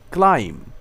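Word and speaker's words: climb: ও MB bomb এখানে এম এর পরের বি উচ্চারণ হয়নি বোম অর্থ বোমা বোমা বর্ষণ করা কোম কোম অর্থ চিরনিী আশ্রানো ক্লাইম ক্লাইম অর্থ আহরণ করা ওঠা ক্রাম ক্রাম অর্থ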